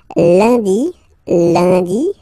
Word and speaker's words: lundi: Lundi, lundi. Okay, remember, UN is pronounced like un.